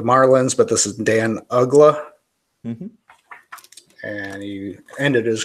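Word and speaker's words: Uggla: He was with the Marlins, but this is Dan Ugla. Mm-hmm. And he ended his career with the Braves. Supposed to be hard when your name rhymes with damn ugly.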